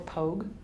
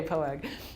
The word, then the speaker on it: POAG: All right, so let's talk about POAG. Is that how you pronounce it? Mm-hmm. Or POG? No. No POG? Okay, POAG.